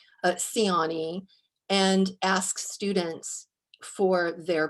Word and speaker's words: Ciani: name and i have a last name that uh people who speak the romance languages want to pronounce in ways that our family does not pronounce so i always provide a pronunciation of my name siani and ask students for